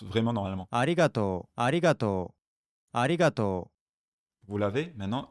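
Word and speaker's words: ありがとう: Regardez, je vais vous rejouer comment ça se prononce vraiment normalement. Arigato.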